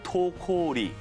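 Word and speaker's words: Toko-Ri: 영화 제목이 한글로는 도공리 달리지만 영어로 하면 토코리. 확실진 않지만 아마도 도공리의 한자 발음을 일본식으로 읽은 것이 아닐까 싶다는군요.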